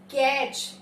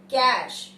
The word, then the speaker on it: cache: और हम उसको बोलते कैसे हैं? कैच या केक. नॉर्मली इस वर्ड को या तो मैंने कैच सुना है या केक. केक क्लियर कर दो. No, that is wrong English. The correct pronunciation of the word is कैश.